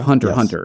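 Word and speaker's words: Hunter × Hunter: or anime that's been had basically two revivals hunter x hunter it's just hunter hunter it's not it's not everyone else everyone pronounces that x i said exactly but yeah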